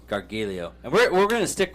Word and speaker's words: Gargiulo: How do you pronounce it? Gargiulo. Gargiulo, and we're going to stick with that through this whole thing.